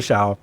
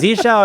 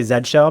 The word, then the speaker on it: Zsh: otherwise but if you're people say Z shell because that's just how they say Z in some places um I have a